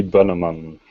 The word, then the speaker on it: Bonneman: And I mispronounced that. That's Stefan. And did I say your last name right? That would be Boneman.